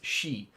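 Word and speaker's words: sí: And in old Irish, this would be pronounced se. And in uh modern Irish, this is she.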